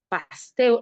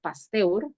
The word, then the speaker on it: Pasteur: En un famoso experimento realizado en 1881, Pasteur, así se pronuncia, ¿no? Pasteur, humíllenme por favor, así es, Pasteur, ¿sí?